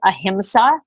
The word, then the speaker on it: ahimsa: of all the ethical precepts of yoga it's pronounced ahimsa in sanskrit and it translates as non-violence so